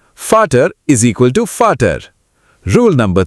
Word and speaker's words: Vater: Rule number 2. V is equal to F. Vater is equal to Vater.